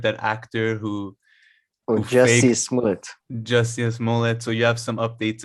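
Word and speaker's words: Jussie Smollett: was also sam you said is his name juician mullet did i say his name word that actor who oh jesse just yes mullet so you have some updates on him he's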